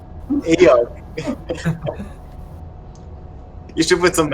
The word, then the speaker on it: Eikooc: Please, The K is silent. Eikooc.